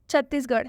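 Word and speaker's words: Chhattisgarh: छत्तीसगढ़, ठीक है, ये तो एक स्टेट है, इंडियन स्टेट, यहाँ पर भी आर एच आया है लास्ट में इसलिए इस आर एच का उच्चारण ढ से हुआ है।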